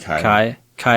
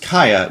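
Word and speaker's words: Kiah: um pronounce uh kaya is that how you pronounce that i thought it'd be kai kai it looks like kia yeah it's yeah key it's k-i-a-h and she says uh kia pronounced kaya because i know you'll butcher it without this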